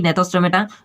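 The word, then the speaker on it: Gnathostomata: So guys अब बात करेंगे डिवीजन नेथोस्टोमेटा, यहाँ पर जी साइलेंट रहेगी, यानी कि नेथोस्टोमेटा जो कि डिवीजन दूसरा है हमारा।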